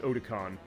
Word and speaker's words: Otacon: And Otacon, by the way, it is a name off of the anime convention Otakon. Fine, it's pronounced Otakon as far as how the Japanese pronunciation is, but they took Otacon as far as that.